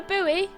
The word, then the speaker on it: buoy: Calling a boy a buoy? Shaking my head unsubscribe. It's pronounced buoy, silly.